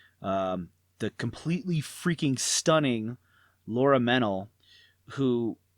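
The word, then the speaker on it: Mennell: completely freakin stunning Laura mental who I think mental is how you pronounce her last name but she's beautiful she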